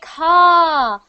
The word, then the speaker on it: call: Not cold. No, not cold. Cold. Oh, cold. You're trying to say called. Not cold. Cold. Call. Call. See my mouth? It's the same.